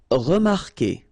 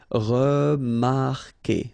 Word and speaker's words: remarquer: Okay, remember that when we've got this Q, and after that, well, vowel like here. Anyway, you've got to put this vowel U, even if you don't pronounce it. Okay, so it will go like que.